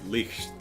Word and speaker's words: Licht: So Licht is pronounced, oh, it's Licht. Oh, god damn it, that's right, Licht. Licht, yeah. You're right, it is the softer I.